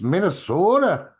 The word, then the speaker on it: Minnesota: You're not saying it right. Uh-huh. It's Minnesota.